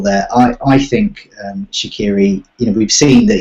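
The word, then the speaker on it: Shaqiri: Stoke as well uh shakiri okay not Shakira okay no pronounce that correctly um I usually try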